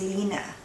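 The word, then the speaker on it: Line: Because I know someone who's from Denmark, and her name is spelled L-I-N-E, but it's actually pronounced Lina.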